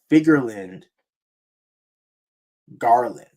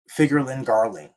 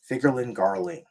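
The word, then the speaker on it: Figarland Garling: the king of God Valley was killed by figland Garland by was it Garland figland let's say it right figurin by figurin Garling figurin Garling excuse me so the the king of of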